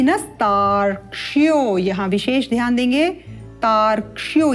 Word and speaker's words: तार्क्ष्यो: तार, इसको हम थोड़ा सरल करके लिख देते हैं इस प्रकार से, तार क्ष्यो क्ष यो, इस प्रकार से तार्क्ष्यो। उत्तमम। और अवग्रह का उच्चारण करते हुए तार्क्ष्यो अरिष्ट, श ट मूर्धा से उच्चारित होंगे श तथा ट।